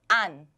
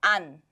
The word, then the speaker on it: 안: But instead, keep the air in your mouth. An. Do not release the air when you read Hangul. So this becomes an.